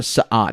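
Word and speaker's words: Sa'ad: and then there's the sad how was this pronounced in the book yeah just like s okay yeah cuz it's sa apostrophe ad so there are the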